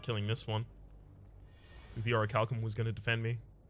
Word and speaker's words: Orichalcum: I have been corrected about how to pronounce that. It's Orichalcum.